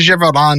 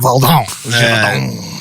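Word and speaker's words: Gévaudan: The Beast of Gevaudan is a cryptid. Or, you gotta say it. You gotta throw on the accent every time. Gevaudan.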